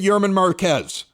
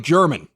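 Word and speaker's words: Germán Márquez: Let's take a look at Yerman Marquez. Looks like German when you punch it in there, but that's not exactly how he pronounces it.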